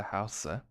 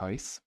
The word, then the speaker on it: huis: Jill en Jack se huise. Oh, se huise. Dutch is again corrupting my brain. The Dutch pronunciation of huis is actually house, like basically the same as the English word.